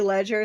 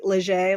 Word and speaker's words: Leger: It's spelt leisure. Some people say ledger. Some people say leger, like it's French.